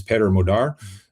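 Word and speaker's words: Péter Magyar: um his name per his name is Pedro Modar. There's a number of ways to pronounce that but again with my Hungarian friends said this is the way to do it.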